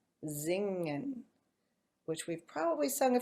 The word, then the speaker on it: singen: to sing, so it has an S at the beginning, which becomes a Z, and it has an NG that sounds just like we were saying singing, singing, but never finger, never the G, hard G. So it sings, so it's singing, and the verb form becomes zingen, zingen, which we've probably sung a few times too.